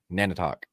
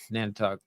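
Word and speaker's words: Nantiinaq: Nan Talk N talk the Nan don't talk just think of Indian bread Nan don't talk Nana talk Nana talk all right uh long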